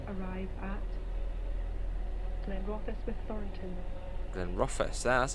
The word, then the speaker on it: Glenrothes: Glenrothes.